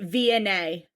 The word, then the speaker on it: Vianey: Vianey. Vianey and Alan from season 7, episode 20. Yes. Vianey. Vianey. Via. I'm going to write via, like via a transit. Via nay. Like a horse. Vianey.